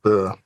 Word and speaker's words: Bure: Bure. That's the way you pronounce it.